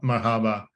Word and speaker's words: Marhaba: um and so here it says it's pron pronounced Mar Marhaba um and it responded to me in Spanish